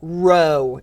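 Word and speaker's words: rho: from the Greek alphabet row is how you say this so this is Row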